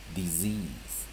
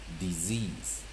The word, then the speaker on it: disease: Combination EA as long vowels E.E ending as E as Z S as voice Z silent E disease disease disease again D I S syllable E A S E secondary stress second